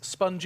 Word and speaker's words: Sponge: Got myself Yankir Paunovic, otherwise known as YNK, and Chad Birchall, otherwise known as Sponge, I believe is how he likes to hear it pronounced. It's his favorite pronunciation of his nickname.